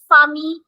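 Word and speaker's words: famille: So here I will just say Fami. I'm not giving the sound of double L.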